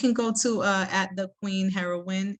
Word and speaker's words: Herawin: Yeah, you can go to at the Queen Herawin. It's spelled HERAWIN, like win.